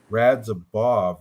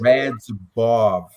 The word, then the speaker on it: Radzhabov: Radzhabov. There's no M in there. Oh. No M, Bigfoot. Phonetic. Use your Taking phonetics. Hooked on phonics. Works for you too. That's what it is. Radzhabov. Say it right.